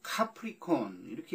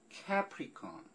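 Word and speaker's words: Capricorn: 그 C-A-P-R-I 그 다음에 C-O-R-N 콘인데, 이 C-A-P-R-I 이렇게 써있으면 카프리라고 읽기가 쉽지 않아요? 카프리? 카프리 섬도 있고 이탈리아에. 그래서 카프리콘 이렇게 읽을 것이다, 발음될 것이다 라고 상상을 했는데, 짐작했는데 카프리콘이 아니라 캐프리콘, 캐프리콘. 모자에 쓰는 머리? 머리에 쓰는 모자를 캡이라고 그러잖아요. 캡, 모자, 창 달린 모자, 야구선수가 늘 쓰는 모자, 캡처럼 캐프리콘입니다.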